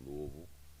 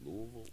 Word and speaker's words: Louisville: we out here in Louisville Lou how you say it Louisville Louisville Louisville depend man if you from Louisville you know I think it's Louisville right but if I'm out